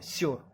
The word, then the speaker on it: sure: इसको आर है ना, साइलेंट होता है इसमें। श्योर।